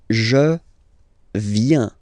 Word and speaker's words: viens: So the first form is je viens. Je viens. Okay? Remember this viens, viens, and then this nasal. Final S not pronounced. Je viens.